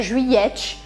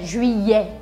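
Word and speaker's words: juillet: final e Juliele Juliele lembrando também que este e não se pronuncia no final da palavra não é Juliet é Julia Julia o mês de agosto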